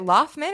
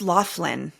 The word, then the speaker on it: Loughlin: Is it Laughman or Lachlan? I think it's Laughlin. Laughlin. Yeah, that's how it's spelled. L O U G H L I N.